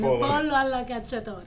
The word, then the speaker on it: pollo alla cacciatore: All right, so chicken cacciatore, which, how do you say it the right way? Chicken, chicken. Pollo alla cacciatore. Okay, that's the one.